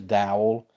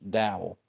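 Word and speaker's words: Dowell: have you here because his name looks like dowel and to me it is Dow and when somebody has the last name spelled like that it's pronounced dowel but I've heard a lot of people say Do by the way Raiden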